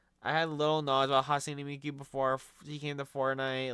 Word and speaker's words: Hatsune Miku: I had like little knowledge, I guess, about Hatsune Miku before, or sorry, Hatsune Miku. I keep saying her name wrong. I had little knowledge about Hatsune Miku before she came to Fortnite.